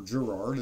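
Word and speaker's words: Garrard: it on the old gerard or gerard as you know a lot of americans say but uh gerard type a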